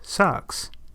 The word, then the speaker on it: SOX: In 2002, Congress passed the Sarbanes-Oxley Act, abbreviated SOX and pronounced SOX.